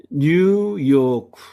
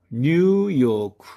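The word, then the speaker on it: ニューヨーク: 즉 길게 늘려서 발음하라는 뜻입니다. 뉴스, 뉴스. 우리들이 늘 TV 등을 통해서 접하는 뉴스입니다. 다음에 뉴요크, 뉴요크.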